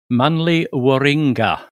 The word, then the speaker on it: Manly Warringah: And how do you pronounce that location properly, Ed? Go on, say it again. Manly Warringah.